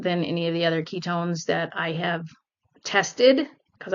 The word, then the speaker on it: Qitone: I pronounced it Qi Tone this morning, but it's Ketone.